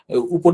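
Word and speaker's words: う: যাই এই পরবর্তী বর্ণমালা এটা হচ্ছে উ দেখেন এখানে কিন্তু ইউ লেখা আছে হ্যা তো এটা হচ্ছে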